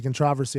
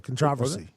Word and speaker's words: controversy: Yeah, and I forget who was the first person to say controversy. I think it was a little comedian as well. So controversy. You put the emphasis on the wrong syllable.